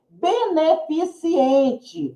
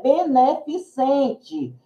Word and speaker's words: beneficente: ou menor de idade beneficiente O correto é beneficente também né pi Essência